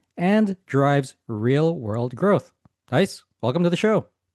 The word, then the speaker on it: Gijs: Let's let's go with the English version. Uh you can just call me guys, as in hey guys, and I will listen to that.